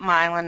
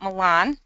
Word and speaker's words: Milan: and as I mentioned we pronounce that Milan not Milan so Milan is the proper pronunciation we have Berlin Township